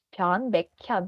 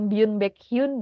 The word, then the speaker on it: 변백현: Kira-kira bukan Baekhyun gitu, tapi kita akan bacanya jadi huruf K, jadinya Baekhyun gitu. Byeon Baekhyun. Jadi bukan Byun Baekhyun ya, bukan. Jadi Byeon Baekhyun.